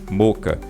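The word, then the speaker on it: Mocha: Boris effects, moca, tá? É assim que se pronuncia mesmo, moca, tá?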